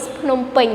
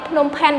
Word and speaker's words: Phnom Penh: And what is Phnom Penh? Right? So Phnom Penh is the capital city of Cambodia, not Phnom Penh. Because in Cambodia we don't have any name of Phnom Penh, we have only Phnom Penh, right?